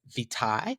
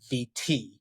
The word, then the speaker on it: vitae: Now, the British pronounce it as vitae, but in the US, we say VT, aka CV.